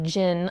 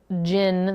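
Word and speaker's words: Djinn: It deals with Genie, or Jinn. I'm pretty sure the D is silent. D-J-I-N-N.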